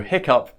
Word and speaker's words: hiccough: you take hiccup so hiccup is pronounced with the cup up sound you will see hiccup